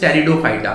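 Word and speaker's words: Pteridophyta: इसमें हमारे तीन तरीके के प्लांट आते हैं, that is थैलोफाइटा, that is बायोफाइटा and third one इज टेरिडोफाइटा, P silent होता है।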